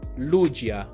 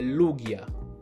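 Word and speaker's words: Lugia: in tantissime sezioni commenti non è lucia mettiamo fine a questa guerra è lughia se poi voi dite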